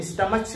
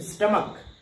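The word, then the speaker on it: stomach: अब देखिए यहाँ पे क्या है, CH है और हम स्टमच नहीं कहते हैं, क्या कहते हैं, स्टमक। तो यहाँ पे CH का जो प्रोनाउंसिएशन हो रहा है क्या हो रहा है, क हो रहा है।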